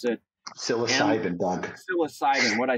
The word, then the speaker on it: psilocybin: about Silo Sylvan that's the right way to pronounce it psilocybin what I say Silo silden I I don't